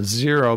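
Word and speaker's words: Xero: It's called Zero, but it's spelled with an X.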